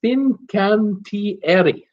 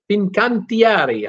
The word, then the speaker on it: Fincantieri: And then here's my friend Sylvan helping me out with the pronunciation of that Italian-based shipyard. It's Fincantieri. Fincantieri. How about that? I'll try to put the Italian accent on it.